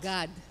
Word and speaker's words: Gad: I think the Hebrews pronounce it God. Not God. God. God. Gad. Like an A, like a soft A, God.